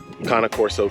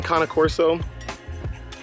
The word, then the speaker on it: Cane Corso: I thought it was Cane Corso. I've heard a lot of people say Cane Corso, but then talking to more people who own Cane Corsos, they informed me that it is actually Cane Corso.